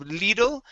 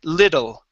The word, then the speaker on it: little: try this out okay instead of lidl we're going to say little okay level okay one